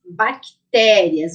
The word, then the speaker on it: bactérias: agudo isso mesmo bactérias bactérias Olha o sem mudo ali ó parece que tem um I mas ele não tem tá gente então na palavrinha bactérias o t é o som mais forte também tem um assento Agudo